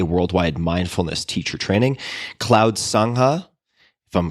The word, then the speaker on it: Sangha: Some of your current projects include MMTCP, a worldwide mindfulness teacher training, Cloud Sangha, if I'm pronouncing that correctly.